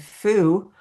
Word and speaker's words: fu: Zong are the yin organs, and fu are the yang organ. And it's like fu and food because they are the digestive organs. We have yang and fu, F-U, but I'm sorry.